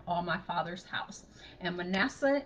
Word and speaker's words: Manasseh: "And Joseph called the name of the firstborn Manasseh, for God, said he, hath made me forget all my toil and all my father's house." And Manasseh in the Hebrew is pronounced Menasseh, and it means causing to forget.